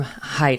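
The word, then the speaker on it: Haidt: we just interviewed jonathan hate on the program height it spelled hate but it's pronounced height um and he's you know he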